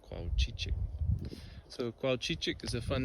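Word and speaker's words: cuauchichic: names to say and almost as fun to say is to spell it c u a u c h i c h i c c u a u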